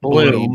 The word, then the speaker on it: Blum: Bloom. Name 2 of And the it's films pronounced Blum.